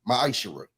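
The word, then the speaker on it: מעשר: means 10th in Hebrew and it's pronounced maisher.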